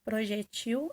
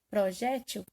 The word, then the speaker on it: projetil: Eu tenho umas observações aqui, que é o projetil, é oxítona. Quando ele pronunciar a sílaba mais forte for a última, ele será oxítona, aí o plural será projetis. Quando eu disser, porque admite mais de uma escrita, projétil, aí o plural será projéteis.